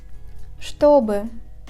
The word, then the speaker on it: чтобы: Rule number 5. In the word что and its variations, The first two letters Ч, Т are read as ШТ. For example, что, чтобы.